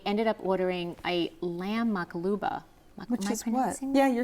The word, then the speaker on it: maqluba: specials, and I ended up ordering a lamb makaluba.